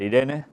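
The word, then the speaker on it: εἰρήνη: palabra que aquí tenéis e Irene es en griego ya saes que se puede pronunciar Irene y que es nombre femenino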